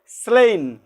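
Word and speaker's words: slain: এস এল যুক্ত এ আই এন এই স্লেন উচ্চারণে কি হচ্ছে স্লেইন এই স্লেন শব্দের অর্থ হচ্ছে কি নিহত হওয়া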